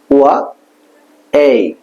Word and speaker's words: Y: ওকে, তারপরে ওয়াই, যেটা আমরা কি ওয়াই বলি, এটা ওয়া এই, ওয়াই, ওয়া এই, প্রথমে ওয়া তারপর এই, ওয়াই, ওয়া এই, ওয়াই, ওয়া এই, ওয়াই, প্রথমে ওয়া এই, ওয়াই,